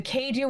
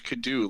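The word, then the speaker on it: kaiju: I'm just like, oh man, the Keiju was not kind to you. Oh, is that how it's pronounced? I always thought it was Kadu, like the old game.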